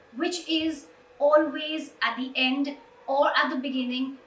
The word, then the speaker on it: y: E, that is why, that's how it's pronounced, E.